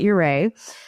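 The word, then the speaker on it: Ouray: It's so, and nobody can agree on how to pronounce it, but I call it Uray.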